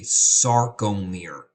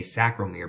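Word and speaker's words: sarcomere: the what's called a sarom miror it's very easy to mispronounce that and say sacir because you want to flip the C and the r it's called sarom Mir and the cell short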